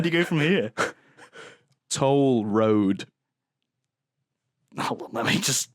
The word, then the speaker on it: Couture: Randy Randy Couture's name is Toll Road. Toll Road. As in spelled like the road.